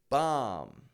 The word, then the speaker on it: bomb: you might bite yourself you're numb and finally bomb now bombs are horrible things but Americans actually